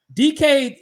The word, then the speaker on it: Dike: Dike is how you say his last name. It's spelled weird.